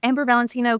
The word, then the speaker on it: Valentino: one v a l Maybe Valentino K yeah right that's usually how I get people to know my name if they're not familiar with the designer it's just Valen time